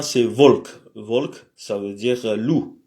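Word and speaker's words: волк: Le B, c'est pas un B, c'est un V et se prononce comme dans vélo, par exemple. Et l'exemple qu'on a, c'est Volk.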